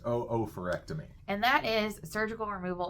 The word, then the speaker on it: oophorectomy: we looked it up it looks like it says oophorectomy but apparently it's not pronounced that way it's pronounced oophorectomy and that is surgical